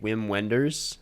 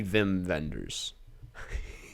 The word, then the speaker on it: Wim Wenders: 1984 film directed by wim wenders i think it might be vim vendors that's very alliterative regardless yeah i've heard different pronunciations um and the synopsis